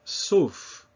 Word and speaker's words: sauf: The final F, as in sauf, means accept, not accept, but accept.